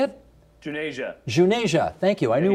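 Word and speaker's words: Juneja: and you're going to tell me how to pronounce Manisha's last name. The digital health futurist Manish Junja, is that how you say it? Junasia.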